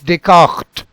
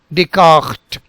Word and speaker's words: Descartes: So it is Descartes, Descartes, this guttural sound.